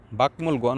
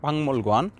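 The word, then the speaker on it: 박물관: বাকমল গোয়ান উচ্চারণ করবে বাংমল গোয়ান, বাকমল গোয়ান উচ্চারণ করবে না, ভাংমল গোয়ান, ভাংমল গোয়ান জাদুঘর, জাদুঘর।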